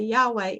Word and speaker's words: Yahweh: It's not as though when we say Yahweh, that we're actually really speaking Hebrew, but it's one of the ways that we think comes the closest to the way that may have been pronounced.